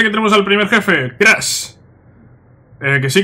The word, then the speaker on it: Crush: Vale, pues aquí parece que tenemos al primer jefe, Crash. Que sí, que se llama como Crash, como Crash Bandicoot, pero se escribe con U. Pero bueno, al fin y al cabo se llama igual, Crash.